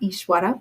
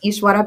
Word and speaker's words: Ishvara: talked about before right with the V coming after a consonant in the middle of a word it's pronounced like a w so just a little